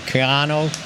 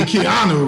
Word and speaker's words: Keanu: a contract done with canoe neil uh is that how you say it or is it kiano no i messed it up it's gotta be keanu right just like you on uh they're still